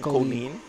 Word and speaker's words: Kolin: Oh, that's how you pronounce the yeah, name. Kolin.